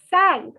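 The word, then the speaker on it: cinq: 5 is sank. The ship sank in the water. The boat sank in the water. Sank.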